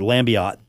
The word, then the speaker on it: Lambiotte: about their all-state passer, Joel Lambiotte, or Lambiotte. See, that E is silent.